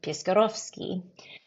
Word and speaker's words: Piskorowski: And if you're not Polish, a W is pronounced like a V. So while I introduce myself as Piskorowski, if somebody Polish is speaking to me, they will say Piskorowski.